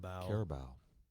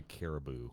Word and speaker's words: Carabao: I'm impressed you said it right. Carabao. Wow. Yeah, it's a delicious drink. No sponsorship. I'm from southeastern Ohio. I'd say caribou. That's hey, how's that caribou cup?